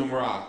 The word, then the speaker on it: Tmura: director of T how do you how you pronounce it t tumra tum tumra oh all right I'll try later I'll practice can't can yes all right tumur practice you know um so when just real